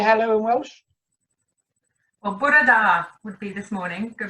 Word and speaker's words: bore da: Well, bore da would be this morning.